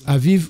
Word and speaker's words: Aviv: Vous sortez aujourd'hui, voilà, verset 4, vous sortez aujourd'hui au mois d'Abib, hein, ça se prononce Aviv, ou ils appellent ça le mois de Nissan, dans le calendrier actuel chez les Juifs.